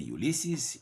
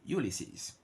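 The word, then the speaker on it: Ulysses: extension all the Greek the words of Greek origin ending in es will produce the sound is Socrates Ulisses in America they will say ulyses in the UK Ulisses SES and so on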